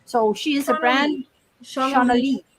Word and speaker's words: Shauna Lee: But that's so common because my name is spelt like Lay. Like if it was a sleigh, it would be spelt that way. But for some reason it's Lee.